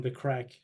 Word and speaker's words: craic: you know this term, the crack. Do you know the term, the crack? The crack? Like Crack? No. Craic, we spell it in Ireland.